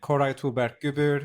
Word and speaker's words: Koray Tuğberk Gübür: Koray Tuğberk Gübür or Koray.